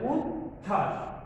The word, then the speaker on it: উচ্ছ্বাস: যেমন আমরা উচ্ছ্বাস, এই যে উ যোগ চ ছ তারপরে যোগ ব ফলা, তাহলে চ এর উচ্চারণ আমরা দেখছি, ছ এর উচ্চারণ পেয়েছি, কিন্তু ব ফলার উচ্চারণ এখানে আসে নাই, তাহলে উচ্ছ্বাস।